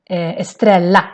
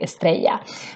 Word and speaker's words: Estrella: This brand is called Estrella in Swedish. Estrella popcorn, Estrella chips. But it actually is from Spanish and it should be Estrella. So, but still, Swedish people will pronounce it the wrong way.